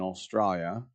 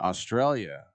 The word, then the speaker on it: Australia: And he traveled back to Melbourne, don't pronounce the R, in Australia, because he does play for the Australian national team.